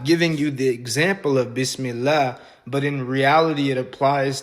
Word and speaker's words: bismillah: If it was going to be how it should be in Arabic, then it would be b e s as opposed to b i s.